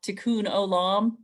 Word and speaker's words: tikkun olam: to use their spiritual path to bring about tikkun olam is that how you pronounce it okay um where you got it